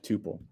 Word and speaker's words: tuple: how you spell Tuple like coule the the U is a long U okay tupal and then okay let's